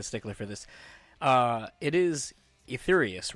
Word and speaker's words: Etherius: And then just because I'm kind of a stickler for this, it is Etherius, right? Etherius?